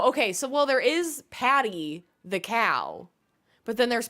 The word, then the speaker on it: Pate: I think it's someone's child calling pate Patty, but I think they were like saying, someone said they call it Pate or Pat. I'm like, both of those are wrong.